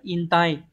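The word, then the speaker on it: 引退: dẫn và chữ thoái từ này đọc là in tay từ in tay này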